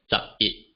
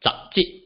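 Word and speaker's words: 十一: So in the case of 11, it will be pronounced as zap it, okay, zap it, and not zap jit. Okay, notice here, zap it.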